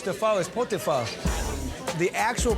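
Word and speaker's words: phở: The ancestral dish to pho is pot de pho. The actual pronunciation is pho. So when I explain to people how to say it, I always tell them to shrug their shoulders, like pho.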